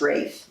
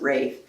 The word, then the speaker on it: Ralph: And Martha Ann Rafe, who was my grandmother, George's wife. Right. It's spelled Ralph, but pronounced Rafe. Mhm. It's the old English thing. It's very important to her to pronounce it Rafe.